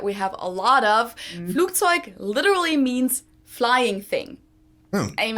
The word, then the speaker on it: Flugzeug: Now, the first word he pronounced Flugzeug, while a normal German would probably usually pronounce it more like Flugzeug.